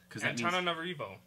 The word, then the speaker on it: Antananarivo: Antananarivo. I almost did it right that time. I think so. You were really close. Antananarivo.